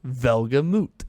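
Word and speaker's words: Welgemoed: Well, in parentheses, it says pronounced, and then there's like the phonetics of V-E-L-G-A-M-O-O-T, which I chose to see as Velgamut. Okay, that checks out phonetically, I guess.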